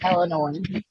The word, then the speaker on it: Illinois: is Renee from BFV Illinois with an S. Although you're not supposed to pronounce the S. I got you for that. No, it's definitely Illinois.